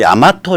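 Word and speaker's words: 大和: 그 야마토라는 거를 그건 이제 말로 읽을 땐 야마토라고 읽지만 실제로 한자로 쓰는 거 보면 다이와란 말이에요.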